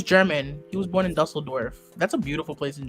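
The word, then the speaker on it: Düsseldorf: Dusseldorf.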